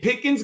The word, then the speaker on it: Pickens: So, and John and Dan, people forget that Pickens rhymes with Higgins.